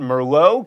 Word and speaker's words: Merlot: pen then you've got Merlot keep that tea silent and caramel three syllables